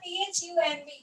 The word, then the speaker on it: thumb: Next we have THUMB. This is we call it as thumb. Okay, we don't call it as thumb. We're not stressing on the D. D is silent. We call it as thumb. Okay, it is our thumb.